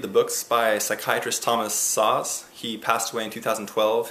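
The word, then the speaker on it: Szasz: you to read the books by psychiatrist thomas saws he passed away in 2012 his last name is spelt s-z-a-s-z he's written like 35 books he passed away at the age of 92.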